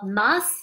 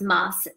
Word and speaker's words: mas: tour, this place called Mas de la Dame. And in the South, they pronounce Mas. In other parts, our driver said that it would be Ma.